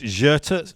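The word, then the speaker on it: Xerta: But it's Gerta, spelt with an X at the beginning, in Barcelona.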